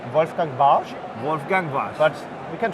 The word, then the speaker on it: Wolfgang Warsch: If you want to spell it like a German one, you have to say like Wolfgang Warsch. Wolfgang Warsch. But we can try Wolfgang Warsch.